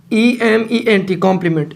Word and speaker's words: complement: दोनों का मतलब जो प्रोनाउंसिएशन है वो सेम है, कॉम्प्लीमेंट और कॉम्प्लीमेंट।